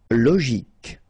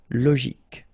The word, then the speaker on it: logique: Logique. Remember, Q-U-E at the end, K. Logique.